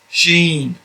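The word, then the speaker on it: ش: as in scene this one here is sh sheen sheen again your tongue is behind the teeth and then your lips go into a sort of a square to get that uh the sh sound sheen this one is sword sword it is similar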